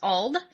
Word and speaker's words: Alde: So his name is actually pronounced Alde. It is very Gaelic and Irish, as most of my characters are. So it's just Alde.